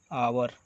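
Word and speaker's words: hour: यहाँ पे इसके साथ जहाँ पे एच साइलेंट हो और ए से शुरू हो, जैसे कि एन आवर, ऑनर, ऑनेस्ट। ये सारे वॉवेल्स जैसे अ से ही शुरू हुए लगते हैं। यहाँ पे एच साइलेंट होता है, इसीलिए यहाँ पे हम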